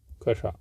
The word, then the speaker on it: कक्षा: छा को तोड़ दो आप, कक्षा। ऑप्शन यहाँ पर सी सही जवाब। कच्छा शब्द का शुद्ध उच्चारण कक्षा है।